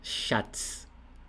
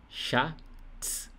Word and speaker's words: Schatz: Em alemão é a palavra Schatz. Schatz. Schatz. Olha bem a pronúncia. Chá, tipo chá de bebê. Chá e depois tz. Schatz.